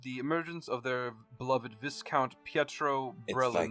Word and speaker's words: viscount: Yeah, it's pronounced Viscount.